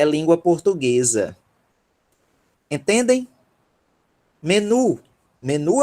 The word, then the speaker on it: menu: E ela deveria ser pronunciada como menu. Menu. Só que a gente pronuncia menu. É um estrangeirismo também.